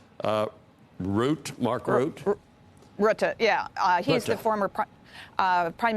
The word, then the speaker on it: Rutte: Is it pronounced Rutte, Mark Rutte? Rutte, yeah.